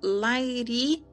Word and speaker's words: Lahiri: Pronuncia-se um tanto quanto Lairi quanto Lairi.